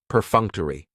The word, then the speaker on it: perfunctory: Perfunctory has 4 syllables, and the stress is on that second syllable, that funk. Perfunctory. That third syllable has the schwa, and it's going to end with that long E sound.